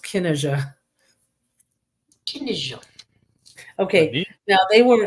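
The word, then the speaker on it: Cinnéide: n NE i d and it's spel it's pronounced Kena Kena okay now they were a king of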